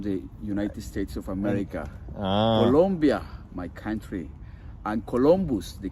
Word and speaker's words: Colombia: pronunciation says uhen colia it's not colia sorry guys it's Colombia with o but is it in